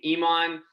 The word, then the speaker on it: Eeman: So my name Eeman, pretty similar to Iran.